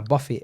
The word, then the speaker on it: Buffett: Warren Buffett. He's Buffet. Nah, Buffett. I think Buffett. Okay. I think it's spelt like Buffet, but it's Buffett.